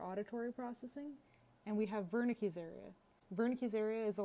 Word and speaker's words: Wernicke: Well, Wernicke, even though it's spelled with a W, it's a German name, so V.